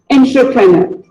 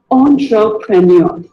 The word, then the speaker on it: entrepreneur: Here's another word most of us pronounce it as entrepreneur, while it is actually pronounced as entrepreneur.